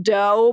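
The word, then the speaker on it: Dough: really pervy guy and his name is literally john doe but it's spelled d-o-u-g-h like i think it's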